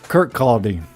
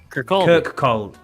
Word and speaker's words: Kirkcaldy: How would you pronounce that? Kirkcaldy. Kirkcaldy.